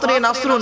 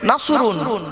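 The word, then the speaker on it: نصر: সূরা পড়েন তো দেখেন নাসরুন বাপেরা মুখটা গোল করবেন নাসরুন নাসরুন মানে হচ্ছে সাহায্যে নাসরুন মানে সাহায্য কেউ যদি নুসন উচ্চারণ করে আমরা তো সিন উচ্চারণ করিনি নাসরুন মানে সুকুন আকাশে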